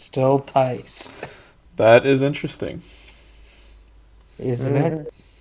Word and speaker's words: Theis: Stuart, I want to correct you on the pronunciation of that last name because my wife's last name is the same. Interesting. It's Tice.